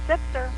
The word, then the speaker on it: Zipsir: is Mary Beth zipser Mary Beth did I pronounce that right zipser it's zipser it's zipser okay good I I actually started